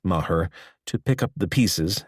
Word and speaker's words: Maher: departments it had fall into Mahar pronounced mahur to pick up the